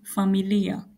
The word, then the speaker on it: familia: And in Swahili we say familia. Familia. So please listen to my pronunciation carefully. I'm not saying familia, I'm saying familia.